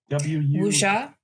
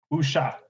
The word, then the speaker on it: Wuxia: How is that pronounced, Ari? Wuxia. Wuxia.